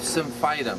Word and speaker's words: Symphytum: But once she got the cast on, this is called Symphytum. That's the Latin. Okay? Symphytum. S-Y-M-P-H-Y-T-U-M.